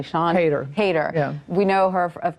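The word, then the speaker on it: Siân Heder: I want to make sure I'm pronouncing her name correctly. Sean Hayter.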